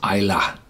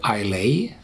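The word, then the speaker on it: Islay: the back and this is how you you pronounce Ila you very very often hear iay and from time to time I'm tending to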